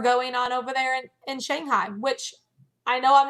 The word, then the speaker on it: Shanghai: say it right, but she was saying it like it's more of an O sound. I get, Shanghai. yeah, there it's pronounced Shanghai.